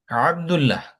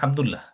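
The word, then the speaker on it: عبدالله: আইনটাকে ঠিক মতো উচ্চারণ না করলে বুঝতে পারে না অনেকে, আরব ভাষাভাষী লোকজন বুঝবে না এই জিনিসটা।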